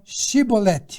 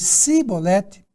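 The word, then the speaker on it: shibboleth: um pouquinho diferente e eles não conseguiam falar a palavra com a pronúncia correta então o que acontecia quando ele ia falar essa palavra shiboleth eles falavam talvez cebolete e falando assim eles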